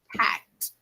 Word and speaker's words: packed: Packed. Making sure we pronounce this verb with a final T.